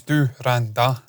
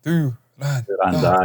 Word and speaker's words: Dhurandhar: it's Dhurandhar, because they were saying that there. Dhurandhar. And yeah. So that's how you say it for sure.